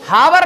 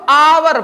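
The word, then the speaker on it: hour: ए एन आ जाएगा देखो हावर नहीं पढ़ते इसको आवर पढ़ते हैं क्या पढ़ते हैं आवर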